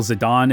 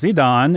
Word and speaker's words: Zidane: Zidane and not Gitane, the katakana character Ji at the start of his name can have either a J or Z sound, depending on whether it's being done with the Hepburn or Kunrei systems of romanization.